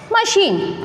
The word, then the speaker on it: machine: It is machine. We know. Machine. Here, CH is pronounced as sh, not ch.